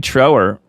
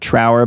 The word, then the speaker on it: Trower: And we had another guest on, Barry Trower. Some people pronounce it Trower, but it's Barry Trower, who was a former MI6 and MI5 spy, essentially, in the UK.